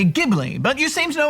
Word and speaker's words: Ghibli: hard G sound, but when you are referring to Studio Ghibli, it has to be pronounced with a J sound. Well, I've always heard people say Ghibli, but you seem to